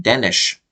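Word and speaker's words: Denes: his name as uh as if there was an H at the end they were all saying Danish Danish so I guess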